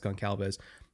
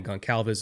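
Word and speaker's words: Goncalves: And that's predominantly because that guard center guard trio like not just Quinton but Tanner Bordellini, Matt Gonalves, at least I think it's pronounced Gon Calves.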